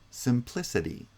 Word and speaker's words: simplicity: each one of them in simplicity it's the first and third syllables that have stress the first syllable has secondary stress the kind of weaker stress the third syllable lists has primary stress simplicity oops hang on